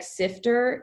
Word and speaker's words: SIFTR: I don't know how you're supposed to pronounce it. I guess like Sifter. It's like SIFTR, and that one is